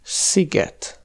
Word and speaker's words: sziget: La plus inhabituelle, c’est que S se prononce [ʃ], comme dans sós (salé), et le son [s] est écrit SZ, comme dans szósz (sauce), ou encore sziget (comme le nom du festival, et ça veut dire « île »).